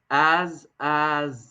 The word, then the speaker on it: Azazel: I keep saying Azay. I think it's Azazel. So we're going to go with that because the A sound is usually a short A sound.